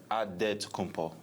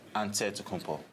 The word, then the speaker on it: Antetokounmpo: In the Nigerian way, you gotta say with a D, so it's Antetokounmpo. But in the Greek way, you say with the NT, like Antetokounmpo.